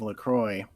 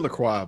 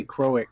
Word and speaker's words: LaCroix: worst flavor of LaCroix. That's how you pronounce it, right? I said LaCroix, but whatever. Because part of me wants to say Croix, but that's not right.